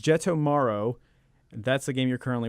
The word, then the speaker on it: Jettomero: I think it's Jettomero. That's the game you're currently working on. Yeah, Jettomero.